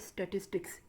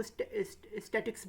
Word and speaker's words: statistics: बहुत सारे लोग जब स्टैटिस्टिक्स बोलते हैं इसको स्टैटिक्स बोलते हैं, जो कि गलत प्रोनाउंसिएशन है इसका, जबकि सही लफ्ज़ है स्टैटिस्टिक्स।